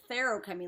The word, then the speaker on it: feruchemy: me it's not, like, I didn't realize that the word feruchemy was spelled with an F, because the guy who narrates it, David Kramer, who is awesome, says feruchemy, like that's what I heard, like a TH sound, so I went to